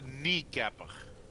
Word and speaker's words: Kneecapper: Dus het is de kneecapper. Kneecapper. Kneecapper. De K in het begin is silent.